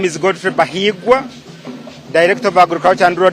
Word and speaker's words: Bahiigwa: He has told me here that Bahiigwa is a romantic name, so it should be pronounced with a lot of ease and not rushed.